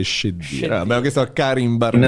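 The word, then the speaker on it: Cheddira: Sì, la pronuncia corretta è Scedira.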